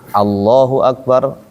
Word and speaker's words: Allahu akbar: Hamzah wasal bunyi a apa o? Kalau dikasih harakat hamzah a dia tipis berarti bacanya a. Allahu akbar. Allahu akbar. Bukan Allahu Akbar. O Allahu Akbar. Bukan gitu.